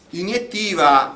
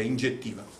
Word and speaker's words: iniettiva: Questo si dice iniettiva in Italia, tranne che in Toscana si dice ingettiva. Ingettiva, o pronunciando in maniera toscana, ingettiva.